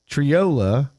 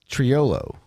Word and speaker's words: Triolo: And so, but regardless of the money, Triola, is that how you say his name? Trollo. There's an O at the end. Triolo. Yes. Triolo.